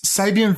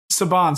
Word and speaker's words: Saban: is my set us Sabian films the guys dude Power Rangers yeah Saban sorry I pronounced it wrong but yeah that's that's